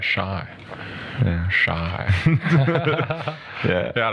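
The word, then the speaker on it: شاي: Actually, the Arabic word for tea is shai. Really? That's how you say it. Yeah, right. Shy.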